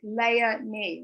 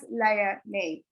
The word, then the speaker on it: Leonie: So my name, Leonie, means little lioness, but I like to tell people it's pronounced like Leonie, right? Princess Leonie.